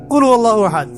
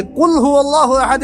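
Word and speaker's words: قل هو الله أحد: এটা উচ্চারণই বা কেমন করে করতে হয়? কুল, বলুন, হুয়াল্লাহু আহাদ, তিনি আল্লাহ এক। এই যে কুল হুয়াল্লাহু আহাদ অনেকেই বলতে পারে না।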